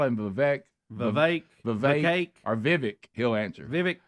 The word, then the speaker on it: Vivek: word to you Vivek and it's Vivek rhymes with cake I appreciate that it